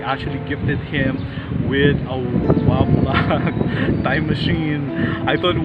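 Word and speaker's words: WABAC: So during the birthday of Sherman, he actually gifted him with a Wabak time machine. I thought it was an acronym. The Wabak, it's spelled W-A-B-A-C, Wabak time machine.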